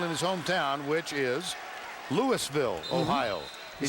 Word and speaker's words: Louisville: his hometown which is Louisville Ohio he said those folks in Kentucky have had it wrong all these years they say it wrong elavil and he played for